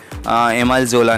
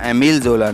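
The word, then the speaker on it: Émile Zola: और फिर 1866 में ये जो दोस्तों पब्लिशिंग हाउस था हैकेट, इससे एमाइल जोला ने या एमिल जोला ने रिज़ाइन कर दिया. आप प्रोनाउंसिएशन दोनों ही बोल सकते हैं.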